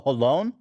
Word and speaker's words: Holon: You didn't even get close to saying it right. Oh my God. I was like, Hulan. Moses and Ela are born in a city called Hulan. Holon. Hulan. No, not Hulan. Sounds like Mulan.